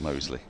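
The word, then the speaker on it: Moseley: it's spelled differently it's spelled mousely but is pronounced Mosley he's a good young player Dan Mosley he's very good young player isn't he very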